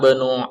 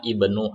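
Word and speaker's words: ابن: Ana banu Abbasin. Ana banu Abbasin. Di sini ada hamzah wasal, maka tidak perlu kita membacanya ana ibnu Abbasin.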